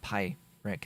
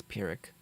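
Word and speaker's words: pyrrhic: you pronounce it pirick it's not pie Rick it's pirick it's an actual word it's not something that was made up by pie now I'm not going to mispronounce it because of Pi being in the name so uh yeah that's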